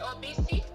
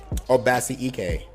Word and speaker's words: Obasi Ike: Am I saying it right? Obisi? Obasi Ike. Obasi.